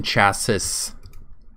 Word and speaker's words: chassis: the the machine chassis the machine chasis I think the achievement for it even says the S is silent there we go fusion